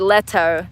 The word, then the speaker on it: Leto: Jared Leto, that's how you say it. Thank you, Jennifer B. Yeah, Jennifer. Uh, sorry, Jared Leto. Letto Leto.